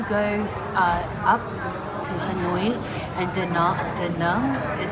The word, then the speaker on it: Da Nang: We were meant to go up to Hanoi and Da Nang, is how you say it.